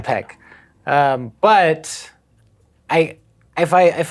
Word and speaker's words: Peck: any really of Ethan pike as Spock mm-hmm where would I say that name wrong you said Ethan Pike yeah you can Pike Ethan Peck but I if I